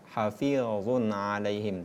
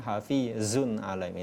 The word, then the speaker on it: حفيظ عليهم: Kemudian hukum Allah ini tidak boleh berdesis ketika kita mengucapkan hafizun alaihim. Dalam ilmu tajwid ada 3 huruf yang berdesis, za, sa, dan so, sedangkan za itu tidak termasuk. Hafizun alaihim, tak boleh kita membacanya hafizun alaihim. Ini kekeliruan dalam mengucapkan huruf hijaiyah.